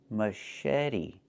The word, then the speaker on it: machete: Pronunciation, machete, machete. The CH makes a soft sh sound, like in fish, mush. And then eddy. The T makes a fast D, machete.